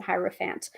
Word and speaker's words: hierophant: here's the hierophant um or hetero fans um so hero fans or hierophant I pronounce it hierophant um is associated with